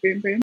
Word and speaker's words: Bum Bum: janeiro have released a bum bum I know it's pronounced I know you supposed to pronounce of boom-boom but I love saying bum bum bum bum want soul